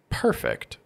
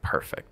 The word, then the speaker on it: perfect: If I say perfect with my stress on the first syllable, this is actually the adjective. Right. Like, wow, you look perfect today. But if I put my stress on the second syllable, perfect, this is actually the verb form. Like, I would really like to perfect my writing style.